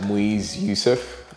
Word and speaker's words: Muiz Yusuf: welcome bro so yeah um my name is moise youssef um it's arabic name and a lot of people find it difficult to pronounce the yeah you've done that perfect thank